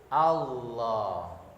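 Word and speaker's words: الله: Sehingga pengucapannya menggunakan ujung lidah menyentuh langit-langit gusi atas dan dibaca tebal. Coba semua lidahnya menyentuh langit-langit ujungnya, ya menyentuh ya. Kemudian ucapkan, turunkan sebentar, kembalikan lagi. Allah.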